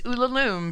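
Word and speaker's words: Ulalume: and I know it's Ula Loom because it's a poem and it rhymes with tomb so I got called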